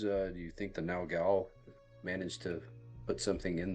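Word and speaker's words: Naugal: no it's n-a-u-g-a-l oh no goal or no no gal however you want to pronounce it that's how you spell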